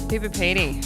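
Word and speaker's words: Coober Pedy: We talked about a place called Cooper Pedy. Cooper Pedy. Is that how I say it correctly? Yes. Yep, Cooper Pedy.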